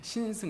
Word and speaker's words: 신승: 이제 김 집사님께서 말씀하셨듯이 제 이름이 이름이 발음이 좀 어렵습니다 신승 해서 시 발음이 두 개가 있어 가지고 어 이제 제 이름이